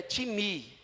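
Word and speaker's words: τιμή: Essa honra aqui é timi. Timi. T i m e. Se pronuncia, se escreve time, mas se pronuncia timi.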